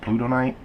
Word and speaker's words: Plutonite: These are what Oakley calls plutonite, I believe is how it's pronounced, plutonite, like planet Pluto and night.